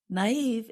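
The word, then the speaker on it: naïve: can be easily tricked naive is spelled n a i v and we put two little dots above the letter i to show that we pronounce that vowel separately and Gable is spelled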